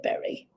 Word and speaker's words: beret: the word berry, as the berry of the poem is a beret, a French beret, a type of hat, but Irish people say berry.